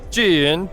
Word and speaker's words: Zhiyun: Jin? Yeah, perfect. You pronounce it more right than 90% of our own stuff.